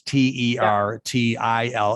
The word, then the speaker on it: Tertill: So it's Tertill, Tertill, if you're going to phonetically pronounce it, which is a clever name.